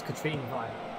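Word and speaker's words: Katrine Veje: I nearly said her name wrong. It's Katrine Via.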